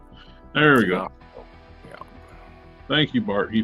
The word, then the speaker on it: D'Onofrio: How you pronounce it? Last name? DeFrio.